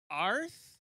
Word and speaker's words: Aaarth: the record then uh arth is how you say it means bear in welsh am i wrong fill